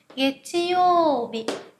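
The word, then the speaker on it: 月曜日: Đầu tiên chúng ta có thứ hai này, getchiyo bị, getchiyo bị. Âm yo này chúng ta là trường âm, các bạn nhớ ngân ra nhé. Getchiyo bị.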